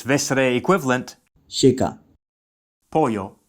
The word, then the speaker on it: pollo: Meaning street sounds like, calle, and there's its vesre equivalent, checa, pollo, meaning chicken, sounds like, pollo.